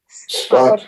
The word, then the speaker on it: שפת: And do you hear how the vowels change?